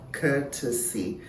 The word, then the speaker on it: courtesy: them you realize that the first one has three syllables okay to see courtesy and the second one has two syllables curtsy currency so what